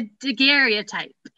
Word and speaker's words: daguerreotype: Is it daguerreotype, Elizabeth? You're gonna make me not be able to see it. A daguerreotype.